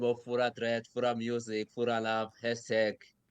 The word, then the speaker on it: Furah Dread: My name is Furah Dread.